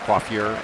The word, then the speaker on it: coiffure: Is that the way you pronounce that, coiffure? Yes, I think that's an alternate pronunciation at worst.